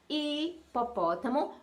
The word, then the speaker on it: hipopótamo: E quando a gente fala hipopótamo, o que a criança está escutando é I, é o som do I, porque o H é mudo.